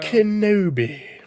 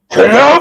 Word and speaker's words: Kenobi: Kenobi. No, you said it wrong. It's Kenobi!